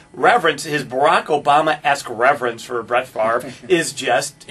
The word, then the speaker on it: Favre: you when you have a name that's f-a-v-r-e and you pronounce the r before the v i mean that's magic